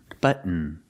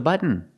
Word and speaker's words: button: fall to an N close your mouth like you're making an end sound but button example Push the Button he's going to push the button not the button but the button button is Technic correct but it sounds strange it sounds more natural when you say button if you want to